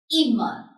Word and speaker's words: immer: So this will be pronounced short. So this is immer.